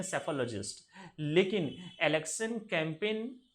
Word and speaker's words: psephologist: और इसमें election trends वगैरह के जो एग्जामिन करने वाले जो बंदे होते हैं उसे हम कहते हैं सेफोलॉजिस्ट। ये भी वर्ड पूछा गया है। इसकी स्पेलिंग में लिख देता हूँ, PSEPHOLOGIST।